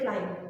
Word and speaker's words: climb: am B CL so the B at the end this B at the end of the word clim is not usually pronounced you will be pronouncing it as only c l i m clim okay when you say this word you will say climb okay the boy is climbing